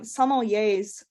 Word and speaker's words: sommeliers: people um also um sommeliers exactly thank you I always think yay at the end and that's what helps me pronounce it correctly I took French in